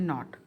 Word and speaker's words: knot: द नॉट, अब ये है KNO वाला नॉट, इसमें K साइलेंट होता है. जैसे हम रस्सी से गांठ लगाते हैं ना, उसको बोलते हैं नॉट.